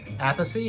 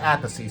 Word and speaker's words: Appice: I've heard his name pronounced a couple different ways, but the singer for the band called him Appice, so I'm assuming he knew how to pronounce his name.